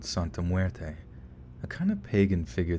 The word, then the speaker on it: Santa Muerte: she knew a few things about something called santa muerta how do you say that let me look this up look this up right quick thanks lynn huerte santa muerte okay my mom was a quarter mexican too